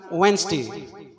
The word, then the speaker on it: Wednesday: wednesday follow me silently it should be pronounced wednesday from today onwards you